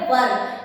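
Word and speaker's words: were: इसका जो प्रोनाउंसिएशन होता है वो होता है वर। कई सारे स्टूडेंट इसको वेयर कह देते हैं। वो आपको नहीं कहना है। आप उसको वर कहेंगे।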